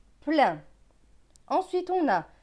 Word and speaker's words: plein: PL, c'est pleu avec EIN. EIN, c'est 1, pleu et 1, plein.